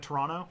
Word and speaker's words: Toronto: like as you said with Toronto you don't say the tea I grew up around